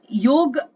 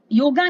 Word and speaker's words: योग: तो योग, योगा नहीं योग बोलते हैं हम लोग, योग।